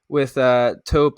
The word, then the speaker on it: Tope: I think it was 350 million, but with Tope, I think that's how you pronounce his name, the founder, they had